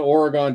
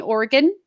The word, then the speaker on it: Oregon: little gap that summer when you're in the Oregon Trail yes you mean Oregon yes I'm in the Oregon Trail gap